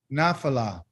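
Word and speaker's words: נפלה: Nafala. Nafala. Nafala. Okay, sounds like nafal, but now it's nafala.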